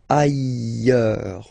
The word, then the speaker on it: ailleurs: Look, final S not pronounced, and then you've got this y sound. Ailleurs. Okay, so I insist a little bit too much maybe, but still, let's read it normally now. Ailleurs, ailleurs.